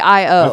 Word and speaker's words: Io: how it's pronounced uh it's literally IO I've heard it I've heard it said EO a lot EO yeah but no but that might be a different Moon if it's IO it's I or EO and I've heard